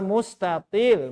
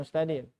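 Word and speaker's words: مستطيل: Sifar mustatil, bukan mustadil.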